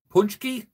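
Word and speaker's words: pączki: got I got how do you say it punch key so here's my punch key this is to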